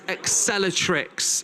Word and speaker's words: Acceleractrics: Now I reckon it's Accelertrix. Is that how you pronounce it?